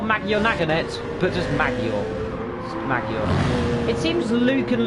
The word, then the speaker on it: Maggiore: We are in, I'm going to pronounce it, Maggiore. Not Maggiore Naganet, but just Maggiore.